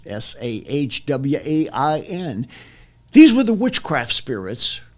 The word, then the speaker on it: Samhain: Hecate, Hecate, and Samhain, as it's pronounced in Welsh, Sahwain.